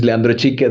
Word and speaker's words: Leandro Chique: like you said you say my name is Leandra CH that's a a very good pronunciation so thanks for that um I'm originally